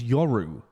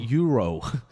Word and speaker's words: Yoru: pronouncing it differently your i think it's your ow right your why oh are you your people always pronounce it euro it's like people say